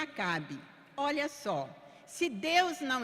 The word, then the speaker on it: Acabe: Eh, para quem não tá acompanhando com a Bíblia, Acabe é A C B mudo. E pronuncia Acabe.